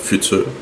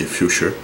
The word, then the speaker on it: Futur: qui est un Mercure future ou future mais la vraie prononciation c'est future donc mercure future euh